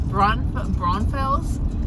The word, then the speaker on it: Braunfels: I've been to, which I can never pronounce that right, it's Braunfels.